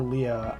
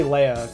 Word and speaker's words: Leia: a very good question is Leia pronounced Leia or Leah I say Leia because the people in real life that I knew were named that where uh that's how I pronounce them uh question how do